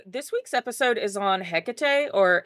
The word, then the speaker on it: Hecate: So this week's episode is on hecate or heate. There's other ways to pronounce her name, but I'm going to be